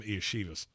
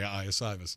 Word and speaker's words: Iosivas: And no, I'm not calling him Iashivas. There's no H in it. So, okay. Andre Iosivas.